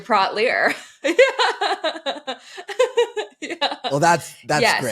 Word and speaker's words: Praught-Leer: So we were going to talk about some shoes, and I brought some beers, and then I became Aisha Brought Beer because it rhymes with Aisha Praught-Leer.